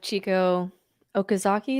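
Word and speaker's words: Chieko Okazaki: It reminds me a little bit of Chico Okazaki.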